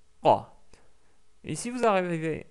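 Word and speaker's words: ق: Donc c'est K et Q. Donc la langue recule un petit peu en arrière. Donc K, Q, K, Q, K, Q. Exercez-vous à répéter ça plusieurs fois. Vous allez voir que vous allez petit à petit sortir le son qa.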